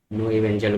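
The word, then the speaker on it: Knoevenagel: नो इवेंजल बोलते हैं हम लोग, है ना।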